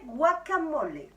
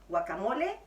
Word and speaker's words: guacamole: recette très mexicaine de guacamole. Guacamole, comme on prononce au Mexique, guacamole, comme on prononce en France.